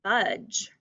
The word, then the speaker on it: budge: badge to a u this word is budge still has silent dippy duck in the word very good and our